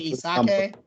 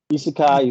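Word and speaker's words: 異世界: So he decides to be Did you say Isake? Isekai, Isake. English is not my first language, so I'm gonna pronounce it.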